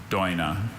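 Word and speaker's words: Doina: Dojna.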